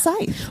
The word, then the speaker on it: Scythe: And then I look it up and it's well, you can actually pronounce it both ways. Right. Yeah. And unfortunately this time you can't. It is Scythe.